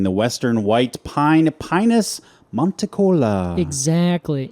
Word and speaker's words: monticola: Today we are talking the western white pine, Pinus monitcola. Exactly. Now, some people pronounce it monticola, just to be clear. That sucks. You're like, Those people are wrong.